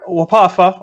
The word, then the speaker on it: WPAFW: Can you say it as a word? Wapafa? Sure. Wapafa or Wapafa.